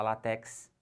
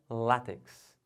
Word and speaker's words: látex: falando de que borracha ainda não pode falar látex as pessoas falam o certo é látex aqui pessoal como é